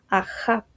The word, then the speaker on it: Ahab: y una bet, que si lo queremos pronunciar como está escrito en hebreo, sería algo así como Ahab.